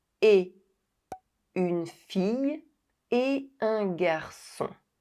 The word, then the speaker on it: et: The final T of a never comes to life with the liaisons. It always remains silent. Et une fille et un garçon.